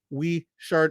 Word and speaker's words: Whichard: it right but if you are wondering it's pronounced Chev it's we shirt he's from Alexandria Virginia his comedy is unique